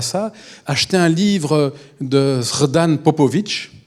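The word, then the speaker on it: Srđa Popović: Si vous voulez avoir un peu d'espoir par rapport à ça, achetez un livre de Srdan Popović, ça s'écrit comme ça se prononce, et c'est comment faire tomber un dictateur quand on est petit, sans force.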